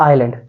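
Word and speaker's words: island: क्या होगा आइलैंड होगा कुछ लोग इस आई एस एल ए एडी को बोलते हैं लैंड य लैंड नहीं है भैया कॉल द आइलैंड क्योंकि इसमें एस साइलेंट होता है क्या होता है एस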